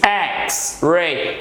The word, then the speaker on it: X-ray: É o caso de X-ray, raio-x, X-ray. Esse X é uma consoante, porém gera um som vocálico. Escutem, X. Perceberam?